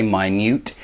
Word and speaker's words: minute: tiny number of a minuscule amount of a minute number of minute means very small here it looks like minute because it's the same spelling but if you change the pronunciation and say minute it means very very tiny and a negligible